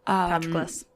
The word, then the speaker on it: Patroclus: Patroclus. Thank you. When you're reading things in your head and your brain pronounces it one way and you're like, wait, this is going to be wrong.